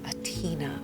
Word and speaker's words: Atina: Atina. Okay, the stress is on the Tina part.